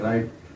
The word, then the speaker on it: write: राइट, WRITE राइट। राइट में W silent है।